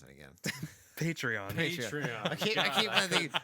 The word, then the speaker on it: Patreon: I do that I don't know how to pronounce it again patreon patreon I I keep Patron not remember at all patreon patreon you can